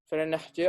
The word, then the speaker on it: Verenigde: Tulisannya begini, tapi bacanya Verenigde Oost-India Company. Jadi dalam bahasa Belanda, huruf G itu sama dengan KH, ya kan?